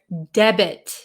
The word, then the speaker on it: debit: In this word, debit, the T is pronounced.